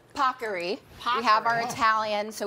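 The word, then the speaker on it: paccheri: This is, as the Today Show team made sure I pronounced properly, Pockery.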